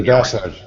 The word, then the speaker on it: desert: To the desert. I was joking. To the desert. To the desert. Oh, desert. Desert. Z sound.